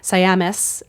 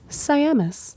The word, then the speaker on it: Siamis: Like we had said, we got some great notes from Corby Siamis, including that I said her name wrong. And so we just want to encourage that it is Siamis.